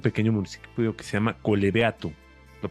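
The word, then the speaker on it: Collebeato: En un municipio, un pequeño municipio que se llama Colebeato. ¿Lo pronuncié Ujú.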